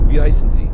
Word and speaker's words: Wie heißen Sie: I keep thinking the W's make the W sound, but you guys pronounce your W's like V. Wie heißen Sie?